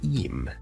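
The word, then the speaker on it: אם: a different vowel Point pronounced as eem okay so it's m Mata versus eem and this word means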